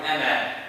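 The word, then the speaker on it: أنا: This zero right here is telling you if you stop, you pronounce the alif. You continue, you do not pronounce the alif. And this is in the all the Qur'an, the word ana.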